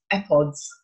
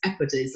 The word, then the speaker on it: Epodes: sort of reworking of the odes and epods of Horace, Epodes, I should probably pronounce that, of Horace.